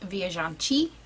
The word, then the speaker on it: viajante: And apparently it's pronounced viajante or viajante, viajante. I'm not Portuguese, so I don't really know.